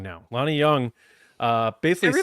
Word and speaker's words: Jung: I'm saying Jung now. Lonnie Young. Uh, basically saying Jung in the chat. Well, it's spelled Jung, but it's pronounced young.